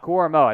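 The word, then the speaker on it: Owusu-Koramoah: and ajoku uh do you know how to pronounce that next name Jeremiah Jeremiah Owusu koramoa koramoa that's right cormo Jeremiah OSU koramoa did not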